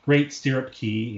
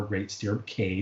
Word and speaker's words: Great Stirrup Cay: We've talked about that, called Great Stirrup Key and or Great Stirrup Cay, depending on how you prefer to pronounce it.